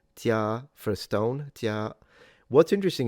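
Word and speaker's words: 家: And in Chinese it's pronounced "jia" for stone.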